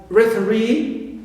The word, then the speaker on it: referee: Also e, like referee. So re is stressed, right?